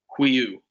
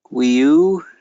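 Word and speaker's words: υἱοῦ: So the upsilon iota with a rough breathing is kind of pronounced like a W-E. Huiu. Wiu.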